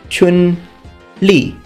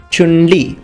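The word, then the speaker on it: Chun-Li: name will be pronounced Chun Le Chun Le now with Chinese names please try to imitate my pitches because Chinese is a tonal language Chun means spring and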